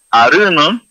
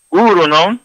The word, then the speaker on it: uruno: Aruno, no, se dice uruno, es antepierna, es uruno.